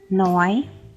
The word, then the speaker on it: neu: Буквосполучення EU дає нам звук Ой. Ной, Хойте.